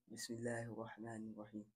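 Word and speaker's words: بسم الله الرحمن الرحيم: Bismillahirrahmanirrahim. Bis, like, it's like a S. Bismillahirrahmanirrahim.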